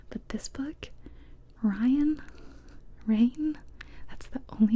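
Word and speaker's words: Raihn: orah and Rain well it's spelled r a i h n I found out it's supposed to be pronounced Ryan and I disagree with that I'm normally the kind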